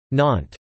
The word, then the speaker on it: Nantes: Nantes is pronounced NT and the city's inhabitants are known as Nantes NT.